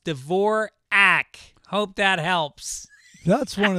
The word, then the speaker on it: Dvorak: You've mispronounced my name on your podcast a few times, saying Dvorak instead of Dvorak.